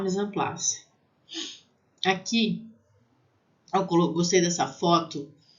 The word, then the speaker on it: mise en place: Então, mise en place. Né? E vai ter som de AN. Mise en place.